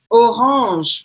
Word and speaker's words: orange: O E no final não tem acento, eu não pronuncio. A última coisa que eu vou pronunciar é o G, que está aqui, e eu vou falar orange, orange, orange. E o R, né? Faltou falar isso, o R arranhado, orange.